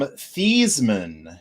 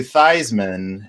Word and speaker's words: Theismann: dame sports information director convinced future washington redskins quarterback and nfl mvp joe theismann to change the pronunciation of his name from thiesman to theismann so it would rhyme with heisman the new mystery size